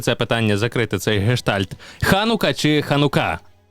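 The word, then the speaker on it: חנוכה: а Ізраїль назвать ханука тому що наєвриті ставиться наголос на останній склад тому наєвриті ханука наїдеш ханука от і все зрозумів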